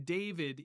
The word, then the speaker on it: David: So, I'm looking at Angela's comment here, but in David, it is the sound V. It wasn't originally. Yeah. It was not originally a V. That's how we pronounce it now, but historically it was a W.